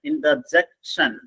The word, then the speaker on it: interjection: സിയുടെ മുകളിൽ ഒരു വരയിട്ടേക്കുന്നുണ്ട്, അവിടെ നമ്മൾ സ്ട്രെസ് ചെയ്യണം. ഇന്റർജെക്ഷൻ.